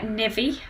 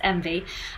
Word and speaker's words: NVii: It looks like NVii, but it's actually pronounced NVii, and they're quite expensive shoes, and their average price is like £140.